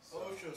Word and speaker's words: OSHA: over three hours that's OSHA is pronounced Osha Osha is a workplace safety